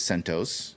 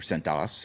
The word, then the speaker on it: CentOS: it two different ways you can read it as sentos or centas however you want to pronounce it or it's sent os and i said you